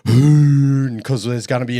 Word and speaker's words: Huhn: It's a German and it's pronounced hoon.